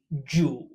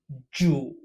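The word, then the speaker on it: 主: lord or host, pronounced Zhu. Zhu. One more time. Zhu. This character sounds very similar to Jew in English.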